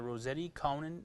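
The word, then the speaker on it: Rossetti-Cowan: We are currently looking for any new participants who would like to join us on Thursday morning at the Rossetti Conan Senior Center. Am I pronouncing that right?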